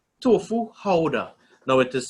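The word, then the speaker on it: Gouda: vegan cheese around the world all right tofu houda now it is spelled g-o-u-d-a but pronounced haura so if you switch up any of these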